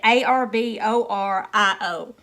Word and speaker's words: Arborio: And it calls for, I'm not even going to try to pronounce this rice name, but it's A-R-O-B something, or Ruba. I said A-R-B-O-R-I-O.